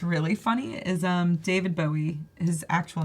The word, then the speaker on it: Bowie: be David Bowie but he always thought it cuz Bowie the knife that it's like the movie knife yeah it's actually a bowie knife and that's what how it's pronounced so his whole life